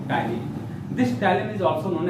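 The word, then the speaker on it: ptyalin: is called mucin, amylase, and third is called tannin. T-Y-A-L-I, T is silent here.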